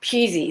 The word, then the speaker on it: Pusey: Pusey is how it's pronounced.